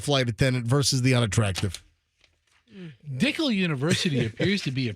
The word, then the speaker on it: Dicle: Dickel University appears to be a pretty big university in Turkey. Is it pronounced Dickel? Yes. It's Dicle.